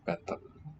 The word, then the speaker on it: Bentham: For benthamism, writing the chin, writing the syllable of bentham. Bentham. I think there'd be a silent H there. Not really correct pronouncing with a th, if I'm not.